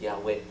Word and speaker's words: Yahweh: not you go back is the real pronunciation pronunciation is Yahweh so they keep it they kick that word